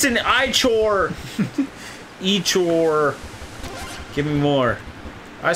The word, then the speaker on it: Ichor: Well, let's get some Ikor. How do you pronounce that, Nick? Is it Ikor? Ikor. Or Ikor. So I said it the one wrong way. It's an Ichor!